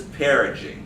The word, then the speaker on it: perigee: is um oh my god i worked on pronouncing it uh apogee and this is perigee everybody say apogee have a cheese say energy